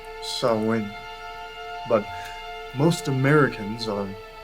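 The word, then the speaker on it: Samhain: the rest of it sam which is actually pronounced so when but most americans are phonetically challenged so we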